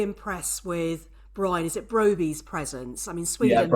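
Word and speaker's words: Brobbey: Is it Broby's presence?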